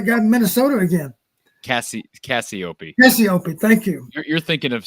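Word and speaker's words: Cassioppi: challenge for tony raziopi is that it's pronounced rusty opie is that right the heavyweight what a challenge he's going to have to wrestle that guy in minnesota again cassie cassiopei thank you you're thinking of spencer petrus's private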